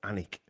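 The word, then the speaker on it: Alnwick: Um the Sir Henry Deers, first baron of Anik Castle in spelled Alwick, but it's I think it's pronounced Anik Castle in North Humberland.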